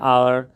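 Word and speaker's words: hour: आवर यहाँ पर एच से शुरू है, लेकिन इसका उच्चारण होता है आवर, है ना, आर होता है, तो इसलिए जो है एन लगा।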